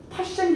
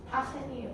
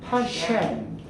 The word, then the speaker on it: 파셴: 요 영역일 때는 이제 우리는 파셴 계열이다라고 얘기를 해줘요. 파셴 계열. 파생이에요, 파생이. 파셴. 그죠?